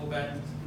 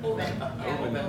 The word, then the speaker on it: Oban: It is pronounced Oban, America, not Oban. Oban. Like open your mouth.